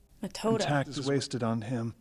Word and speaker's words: Methode: I always want to say her name's Method or Methode. Mr. Ganao, Yep. bring the injured over here. Injured? You needn't spare my feelings, Metoda. Metoda.